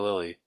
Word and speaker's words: Lillis: I swear it's Sophia Lilly. I think the S is silent.